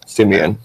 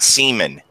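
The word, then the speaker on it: Siemian: in Brady Brees Rodgers Simeon you up jack real quick maybe it's the pronunciation cuz I know we're all from different parts of the country they're saying Simeon not semen we just look at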